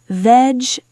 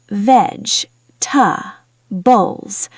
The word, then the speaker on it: vegetables: Pronunciation tip: vegetables Natural English often says veg-ta-bles. Let's try slowly together. veg-ta-bles I waved to the man who works there.